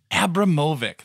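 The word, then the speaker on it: Abramović: For today, we're going to be talking about Marina Abramovic. Abramovic. Thank you. Longtime listeners know I cannot pronounce a name.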